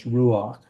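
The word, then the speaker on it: רוּחַ: It is actually a furtive patak, so it's ruach.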